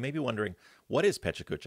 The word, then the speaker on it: PechaKucha: night so you may be wondering what is pachucha it's actually supposed to be pronounced Paka I just learned that recently which is Japanese